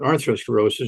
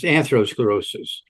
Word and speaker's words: atherosclerosis: if they're talking about arthrosclerosis they're talking about talking about um I'm probably not pronouncing it correctly it's atherosclerosis okay thank you yeah